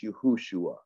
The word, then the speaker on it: Yahushua: Courtney, if you want to be really technical, like I said, it's Yahushua, right?